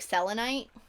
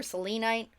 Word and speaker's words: selenite: you can't be right i really like selenite or selenite oh some people pronounce it differently although it's something you